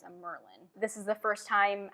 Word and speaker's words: Amyrlin: In my head, I always said Amarylline, like from when I was really young, and so that is often what I say, but I know that's not how you say it. I think it's a Merlin.